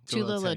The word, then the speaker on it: Tula Lotay: so Becky Cloonan, how do you pronounce her name? Tula Tula Lotay.